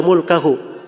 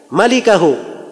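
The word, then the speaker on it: مالكه: Al-Bukhari itu tidak bilang illa mulkahu. Dia berkata illa malikahu. Tulisannya sama, mim, laf, lam, kaf, ha. Tapi cara bacanya yang beda. Dia bacanya illa mulkahu. Ya. Kalau bacaan yang benarnya illa malikahu, kecuali pemilik wajah.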